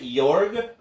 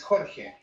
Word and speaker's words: Jorge: Jorg? No, it's Jorge.